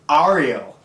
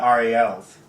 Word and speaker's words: Ariel: Ariel. I say Ariel. I've been going to Hebrew school. There's a lot of Ariels. Well, Ariel is how you say it in Spanish.